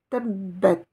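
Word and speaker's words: تبّت: Sans la shidda, je dirais Teb. Mais avec la shidda, j'insiste. Teb. Teb. Ce mot se termine par la lettre T avec une soukoun. Tebbet.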